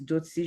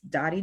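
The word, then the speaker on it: Dotie: So for those who don't know me, the real way to pronounce my name is Dotsi. That's in Creole. The pre-approved alternative for Anglophone, so if you speak English, it's Dottie. And in Espanol, Doti.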